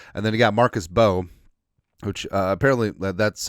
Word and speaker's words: Bowe: And then you got Marcus Bowe, which apparently that's how he says that's how his last name's pronounced.